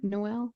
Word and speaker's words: Noel: Noel.